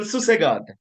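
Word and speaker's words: susegad: So let me give you the right way of doing it now. So it's called susagad. Okay.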